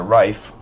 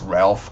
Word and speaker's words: Ralph: But if you're just changing Ralph to Rafe and you're in a formal setting, it's Ralph, guys. Don't call it Rafe.